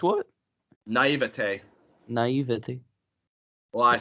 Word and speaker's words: naïveté: Naïveté. Naïveté. Ouais, c'est un mot qui a été récemment introduit en anglais, alors c'est pour ça que ça sonne plus comme le français. Naïveté.